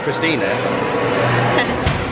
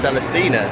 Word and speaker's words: Celestina: It's not Christina. Celestina.